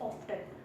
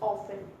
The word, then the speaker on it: often: I mean इसमें OFTEN, इसमें ना टी भी लोग उसमें बोल देते हैं, विच इज ऑफ्टन, पर ये ऑफ्टन नहीं है. ठीक है, इसमें भी टी साइलेंट है, इसमें हम लोग टी नहीं बोलते, इसमें भी हमारा टी साइलेंट हो जाता है, विच इज ऑफन.